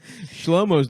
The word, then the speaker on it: Shlomo: First of all, it rhymes with homo.